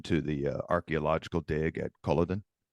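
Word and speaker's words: Culloden: the archaeological dig at Koladan? I haven't. Coladin I guess is how you say Coladin.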